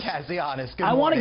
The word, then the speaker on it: Kazianis: the Center for National Interest, Harry, can you pronounce it for me, sir? Kazianis? Kazianis, good morning.